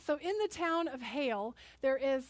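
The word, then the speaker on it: Geel: town in Belgium called Hale. And it's spelled really funny, G-E-E-L-L. Yeah, G-E-E-L, but they say Hale.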